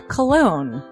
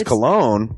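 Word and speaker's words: Colon: a self-published book by Christopher cologne Chris cologne smells good to me look at her that broke that cold look like but it is spelled c o l o n but double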